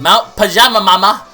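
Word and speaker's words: Mount Pajamaja: uh what else do we have we have Mount pajama mama okay Mount pajama Mount pajama there we go that's how you pronounce it that's kind of almost a tongue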